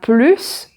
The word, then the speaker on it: plus: Le premier, on ne prononce pas le S de plus quand il est suivi d'un adjectif ou d'un adverbe. Par exemple, cette voiture roule plus vite, elle est plus